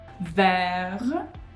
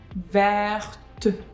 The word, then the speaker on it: vert: at the end, but because T is quite often not pronounced at the end of the words, it is silent. With this E added, it becomes pronounced.